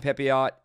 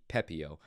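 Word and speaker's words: Pepiot: i think about it i think it might be pepeo uh but let's go with pepio like the french pronunciation uh but 20 and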